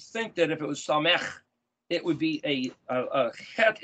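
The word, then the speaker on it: Samekh: kind of also a, like the word samek, we might say S-A-M-E-K, samek, but it's more like samech. Well, you'd think that if it was Samech, it would be a het at the end, but it's not.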